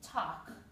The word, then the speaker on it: talk: couple of additional notes i crossed off the l you can do that or you can put silent l and i also spelled it without the l which is called phonetic spelling okay you can do